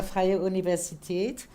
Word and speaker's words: Freie Universität: Cette fois-ci, c'est la bonne prononciation pour la Freie Universität.